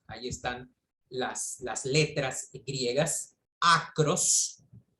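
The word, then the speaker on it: ἄκρος: están las letras griegas, acros, así se pronuncia en griego, acros, derivan, o sea,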